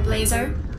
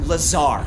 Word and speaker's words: Lazar: Thank you, Researcher Blazer. It's Lazar, actually. Accent on the Czar.